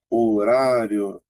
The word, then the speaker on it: horário: Veja que foneticamente a letra H não aparece, ó. Aqui, ó, horário.